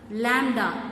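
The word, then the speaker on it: lambda: இப்போ ஏங்கிறது ஒரு vector, லாம்டா, this is a simple. இந்த சிம்பிளை எப்படி ப்ரொனவுன்ஸ் பண்ணணும், லாம்டா, this is a scalar.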